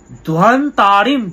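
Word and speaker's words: ধ্বান্তারিম: ধ্বন্তারিম, ধ্বন্তারিম, ধয় ও, বর্গীয় ব, সংস্কৃতে দুটো ব হয়, একটা ও একটা ব।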